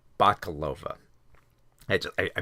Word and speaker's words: Bakalova: mispronounce her name it's it's Maria um uh bakalova bakalova I just I mispronounce her name every time all right so